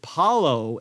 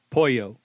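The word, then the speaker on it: pollo: chicken in Spanish but I always said Paulo and it's more poo and he taught me how to say it and we had a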